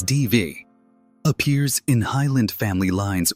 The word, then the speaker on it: Daibhidh: In Scottish Gaelic culture, Daibhidh, pronounced roughly as Dee-vee, appears in Highland family